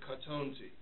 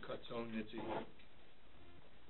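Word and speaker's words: קטנתי: Shava is a Shvanach, and it's Katonti, not Katoniti. Okay?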